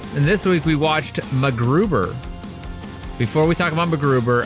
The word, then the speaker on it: MacGruber: You didn't pronounce the C in MacGruber. MacGruber? MacGruber? MacGruber? MacGruber? How do they all say call it? him MacGruber. They don't say the C is silent.